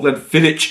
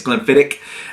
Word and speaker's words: Glenfiddich: how you like uh I was told Glen fidic is not the right way it's Glen fidic um and it's also